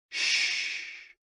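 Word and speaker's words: xu: sounds are X U pronounced like shhh with a deep sigh which is associated with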